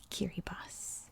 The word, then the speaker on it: Kiribati: b a t i and yes that is pronounced kiribas the language they speak here is called gilbertis